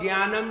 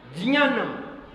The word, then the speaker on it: ज्ञान: फिर तुम ज्ञानम बोलोगे आपने कई स्कूलों में लिखी हुई देखी होगी spelling ji बाय ए एन ये स्पेलिंग गलत है और बड़े बड़े स्कूलों में लिखी हुई है डिक्शनरी में भी लिखी हुई है जब आप सायनी की डिक्शनरी पढ़ेंगे यहां जो यही की बनाई हुई है उसमें लिखेंगे जीवाय ए एन ज्ञान नहीं नहीं ये ज्ञान की स्पेलिंग नहीं है जे एन ए एन ये जियान की स्पेलिंग है जे एन ए एन